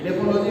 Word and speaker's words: edaphology: इडेफोलॉजी वो कहते हैं ई से है, ई का उच्चारण इडेफोलॉजी में होता है, एडेफोलॉजी एडेफिक।